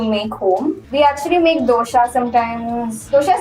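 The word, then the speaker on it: dosa: It's clearly not from Kerala because you pronounce it dosha. How do you pronounce it? In Karnataka, we just say dose.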